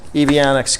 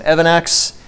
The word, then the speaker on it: EVannex: list we got some avionics coupons I've heard it pronounced both avionics and Evon acts I got some some